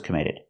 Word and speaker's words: committed: We hear the double T in committed pronounced as a fast D.